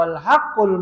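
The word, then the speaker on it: الحق: Adapun pengucapannya di sini dengan bentuk masdar yaitu al-haqqu, kebenaran. Ya.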